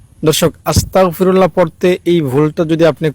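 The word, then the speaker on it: أستغفر الله: দেখুন আস্তাগফিরুল্লাহ আর আস্তাগফিরুল্লাহর মধ্যে খুব বেশি কিন্তু ব্যবধান না। আস্তাগে গয়ে উচ্চারণটা হয়। আর আস্তাগ ক দিয়ে উচ্চারণটা হয়।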